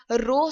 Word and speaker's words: rho: हमने कहा कि इसको हम रिप्रेजेंट करते हैं रो से, RHO इसको इस तरह से लिखा भी जाता है, लेकिन इसको प्रोनाउंसिएशन के हवाले से हमने यहाँ पर बता